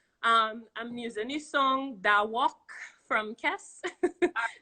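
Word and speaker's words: Dah Wuk: I'm using the song Da Walk from Kess. It's spelled D-A-H-W-U-K.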